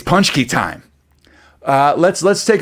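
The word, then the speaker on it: pączki: is the correct pronunciation it's punch key punch key like punch key yeah pinch punch key but i think it's like if you're the pittsburgh ease it's like panchky i tell you what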